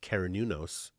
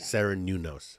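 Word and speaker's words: Cernunnos: There is a guide who speaks to those fairies, and I've channeled him, and his name is pronounced Kerenunos. I think it's spelled C-E-R-R-E-N. U-N-O-S, Serenunos, right? Or Kerenunos.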